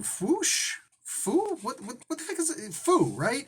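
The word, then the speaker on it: Fooh: what's his name foosh foo what what the is it foo right f-o-o-h the dude's name is foo bruh i say fool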